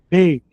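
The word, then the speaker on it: בּ: Beit é o B de bola. Tirou o ponto de dentro, ficou veit como viola, violão.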